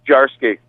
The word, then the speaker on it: Jarsky: Close. It's Jarsky. Ah. I know, it's confusing. My parents, two J's, two different pronunciations.